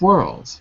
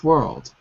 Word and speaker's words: world: word second world world the L is really soft ah soft it's soft